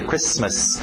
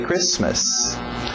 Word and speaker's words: Christmas: O T é mudo, não pronuncia esse T. Christmas. Merry Christmas.